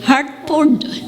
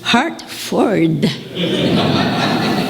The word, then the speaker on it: Hartford: So we pronounce Connecticut connecticut connecticut we say heart for heart connecticut only then that I got here and I found out that the right pronunciation is hartford.